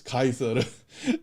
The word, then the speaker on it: Caesar: I think voice says Caesar rant coming. So, it's Kaiser. Oh, that's right. Asian Latin with with a hard C.